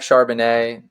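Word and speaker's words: Charbonnet: well you know Zack shanet he's doing well his name rhy rhymes with shardon give me the Seahawks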